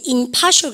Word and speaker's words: impartial: 그러면 여러분 이렇게 여기가 impartial. 그죠? 그런데 여러분 발음할 때 impartial 그러니까 너무 뒤져. 그렇습니까? 그러면요, impartial. 그래서 여러분가 야가 공정한 뜻이 나오죠. 발음상 im으로 바뀌어서. 이해갑니까?